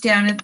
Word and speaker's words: Damhnait: that one hi everybody my name is downeth spelth weird pronounced down at i'm canadian but i